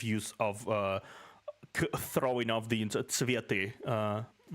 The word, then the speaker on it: цветы: I'm not sure I agree with this creative use of throwing off the цветы. Цветы. Usually that's how you pronounce it.